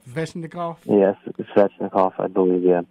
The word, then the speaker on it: Svechnikov: Andrei Svechnikov. Svechnikov?